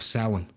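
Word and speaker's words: Samhain: festivals and in particular the gaelic festival of of seoul or um it's spelled s-a-m-h-a-i-n which is a three-day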